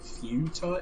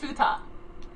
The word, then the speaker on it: futa: It's How do you Fuda. pronounce it's just futa. it? I'm gonna Google it. Like futon, except with the futon.